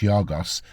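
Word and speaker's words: Γιώργος: His father, George, pronounced Yorgos Roussos, was a classic guitarist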